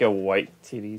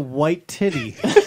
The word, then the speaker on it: Waititi: But like, it's Taika Waititi, so he not the best pronunciation. yeah, whatever. You called him Taika White Titty.